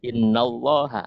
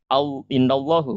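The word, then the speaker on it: إن الله: Innallaha, maka menjadi innallaha, bukan innallahu, bukan ya. Jadi cara membacanya menjadi innallaha ghafurur rahim ya.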